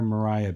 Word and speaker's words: Maria: before west side story that spelling of the name was pronounced mariah in the english-speaking world and then with the overwhelming success of west side story it has since become pronounced maria again the bottom right with